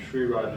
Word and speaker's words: Sri Raj: And Sri Raj is spelled SRIRAJ. You got it. Yeah. So it's not SH, it's SRI. SRI.